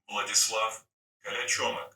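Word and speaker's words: Vladislav Kolyachonok: Vladislav Kalachomik.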